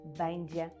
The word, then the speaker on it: będzie: Він буде он бендже.